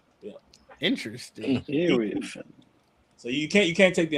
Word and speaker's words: Iriafen: You pronounce the name Iriafen, but through her whole career, every time you did be on TV, it called her Iriafen and Oh wow, Iriafen, yeah, but it's Iriafen. Iriafen.